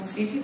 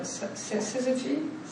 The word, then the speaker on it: syzygy: And with this, it's called, I never know how to pronounce it. It's not syzygy, but syzygy? Syzygy, exactly, syzygy.